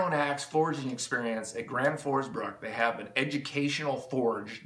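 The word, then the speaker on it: Gränsfors Bruk: And then up against stock Granforsbruck felling axe.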